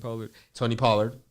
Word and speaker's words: Pollard: Pollard.